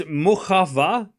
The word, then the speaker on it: Muchova: I just found out that you don't actually pronounce the C in Muchova. No, I'm saying it's Muchova, but I say Muchova because I'm saying it quick.